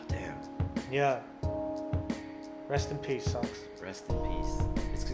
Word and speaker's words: Sunkus: Rest in peace, Sunks. Rest in peace. It's pronounced Sunks. Sunks. I don't know. Sunks. I always said Sunkus.